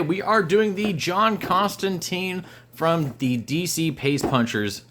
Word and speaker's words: Constantine: John Constantine uh and I will start trying to call him Constantine because people are oh you're gonna pronounce it the right way I get it like